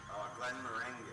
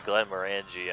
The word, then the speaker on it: Glenmorangie: Glen Meringue. I think it's actually Glenmorangie. I'm just too tired to pronounce things correctly.